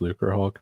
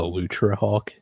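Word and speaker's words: Lucrehulk: Dude, I know it's pronounced Lucre Hulk, but I always want to call it the Lutra Hulk.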